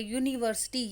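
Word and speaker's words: university: यूनिवर्सिटी, य की sound आ रही है.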